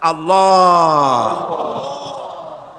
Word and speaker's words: আল্লাহ: পাকের নাম উচ্চারণ হচ্ছে আল্লাহ মুখটা একটু গোল হয়ে যাবে বলেন আল্লাহ আল্লাহ পৃথিবীতে বিভিন্ন জাতি